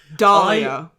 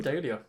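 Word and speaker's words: dahlia: She's like Bong Dalia. I pronounce them dia. Uh, you are wrong.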